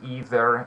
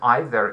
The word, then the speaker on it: either: good and again um either is uh the British pronunciation and either is is that's very perfect pronunciation I'm just telling you that either is British and either is American so uh why I'm